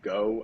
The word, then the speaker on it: GHO: was the ave stablecoin uh pronounced go i think like short for ghost and uh it's pretty